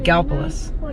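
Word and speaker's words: Gallipolis: spelled GA ll i pol is but it's pronounced Gallus Gallus ohio we had to come down here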